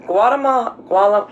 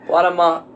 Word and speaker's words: Guatemala: We found airline tickets along the border from Guatemala. How do you say it? Guatemala. Not Guatemala. Yeah. Guatemala.